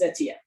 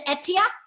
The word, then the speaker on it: Atia: i introduced myself because my name is ethia i would mispronouncing it it's etia yes yeah that's how